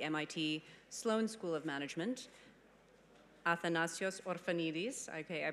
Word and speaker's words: Athanasios Orphanides: management at the MIT Sloan School of Management Athena's Josefa Neely's okay I pronounced it correctly this time you're basically gonna